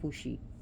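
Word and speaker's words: Fuxi: and fushi which is spelled f-u-x-i but it's pronounced fushi so the three sovereign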